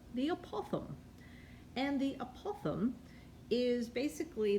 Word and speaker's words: apothem: how i say it it's the apothem and you have to say it with a british accent but it's really i think if there's an it's actually not how you say it apothem i think is how it's really said but that's just so american sounding so the apothem is